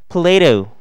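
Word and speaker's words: Plato: 플라톤 이에요 . 발음 을 한번 해 볼까 요 ? 플레이토 .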